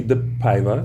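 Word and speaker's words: DePaiva: We have a prize pack, which consists of a autographed photo of Cassie the Paiva.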